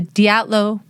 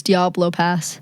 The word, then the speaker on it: Dyatlov: This is the story of the Dyatlov Pass. It's pronounced differently than Diablo. It's not. Why did I think it was Diablo Pass?